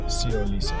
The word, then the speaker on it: Siolisa: Siyo. Uh-huh. And then like Lisa, Siolisa.